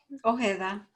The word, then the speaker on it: Ojeda: Is that how you pronounce it? Ojeda. Ojeda. Okay, of course, it's in Spanish.